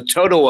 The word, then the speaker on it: Toto: In fact, I've heard of another term called the Toto effect. Are you familiar with that term? How do you spell it? Is it T-O-T-A-L? No, T-O-T-O. Toto, like Dorothy's little dog.